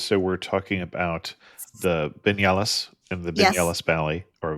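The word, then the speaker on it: Viñales: So we're talking about the Vignalis and the Vignalis Valley or Vignal is spelled with a V even though it's not pronounced that way.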